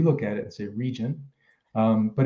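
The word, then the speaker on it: Regent: also a variety called reagan if you want the german pronunciation or we look at it as a region but it's actually a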